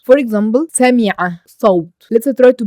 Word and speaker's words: صوت: For example, صوت, not sound. If I said sound, I pronounce it with the sin, which is a light. But here it's صاد, صوت.